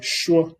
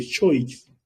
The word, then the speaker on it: choix: De choix, no lo digo de choice, es de choix, porque OI se pronuncia wow, como en el caso de bonsoir, buenas tardes.